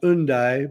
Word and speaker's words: Hendaye: In French, it's pronounced Undaye, but it's spelled Hendaye.